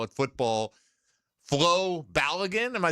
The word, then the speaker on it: Balogun: Balogun or Balogun. Oh, Balogun or Balogun? It's how they pronounce the O. Yeah. Balogun. Just Bala. Like Bala, like a short A.